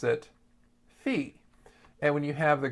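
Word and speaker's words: φ: you have the Greek letter Phi they actually pronounced it fee and when you have the Greek letter Sai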